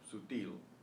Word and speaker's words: sutil: Now, how do you know that the stress is on the il syllable, sutil?